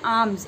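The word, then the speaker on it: alms: इसको पढ़ते हैं आर्म्स, एल साइलेंट होता है.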